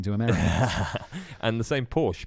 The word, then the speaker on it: Porsche: America and the same Porsche Porsche is Porsche oh is that right is that the correct pronunciation German let's put [ __